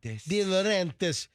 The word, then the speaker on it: De Laurentiis: Giada De Laurentiis? De Laurentiis.